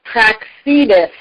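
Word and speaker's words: Praxedes: turn in Spain and her name is pronounced prax Edith and she's born in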